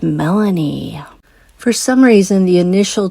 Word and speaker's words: Melani: Felony rhymes with Melanie.